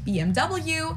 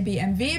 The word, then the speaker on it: BMW: in English people say BMW in German we say BMV because W is pronounced V in German and it stands for